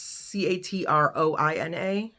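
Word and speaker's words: Catriona: I don't know how to pronounce the author's first name. Katrina Ward. It's Catroina.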